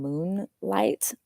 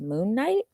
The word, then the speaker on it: Moon Knight: I keep calling him Moonlight instead of Moon Knight.